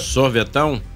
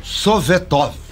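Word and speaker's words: Советов: com o kilia sovetov gostou da pronúncia Sorvetão não sovetov svetov da Rússia Rússia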